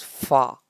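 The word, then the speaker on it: ف: me okay next is far far far pronounced with the edge of our upper teeth and with the wet part of our lower lip repeat after me okay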